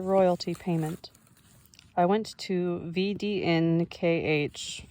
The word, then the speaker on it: VDNKH: I went to VDNKH, footnote, pronounce VDNK, the Russian initials denoting